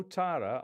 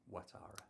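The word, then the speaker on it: Ouattara: right at the end Dango otara I pronounced that wrong haven't I watara watara Dango watara thought he'd won it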